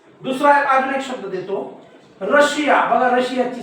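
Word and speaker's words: Russia: अजून एक शब्द देतो रशिया बघा रशियाची स्पेलिंग बघा या रशियाच्या स्पेलिंग मध्ये एस नंतर आय ए आहे म्हणजे 100% या एस चा उच्चार काय होतोय श होतोय म्हणजे कशा प्रकारचे आता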